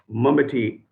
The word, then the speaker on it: Manbati: This is under the title Manbati or Mambati when we pronounce it in English.